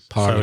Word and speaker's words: parliament: Parliament. So it's like parliament, but the pronunciation is parliament. 3 syllables. The first syllable is stressed.